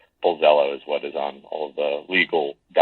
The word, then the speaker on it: Pulzello: And so with Hispanic last names, the 2 L's at the end are pronounced like a Y, so it would be Puzello.